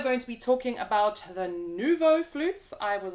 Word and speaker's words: Nuvo: and we are going to be talking about Nouveau flutes I was not pronouncing those right a moment ago but that is how you pronounce them Nouveau fleas and we're gonna start off by just